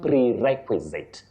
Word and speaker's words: prerequisite: You say pre, then requisite. Prerequisite. Prerequisite. Not any other pronunciation, especially for those who use English in careers of serious communication. You say prerequisite.